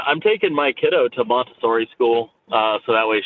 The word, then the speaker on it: Montessori: lose it it's called I think you're pronouncing Missouri wrong huh it's Montessori right it's French I don't speak French I